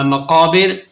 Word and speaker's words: مقابر: بڑھیں گے۔ یہ رہا مقابر، پہلے ہم اس کے سپیلنگ کریں گے۔ میم زبر ما، قاف الف زبر قا، مقا، بازر بی، را زبر را، مقابر۔ وقف کریں گے تو